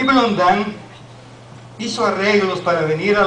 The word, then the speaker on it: Blondin: En su infancia, un niño de apellido Blondin, francés, lo escriben Blondin, pero se pronuncia Blondin.